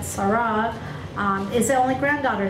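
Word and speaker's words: Serah: point it's interesting that Sarah s e r a not Sarah but Sarah um is the only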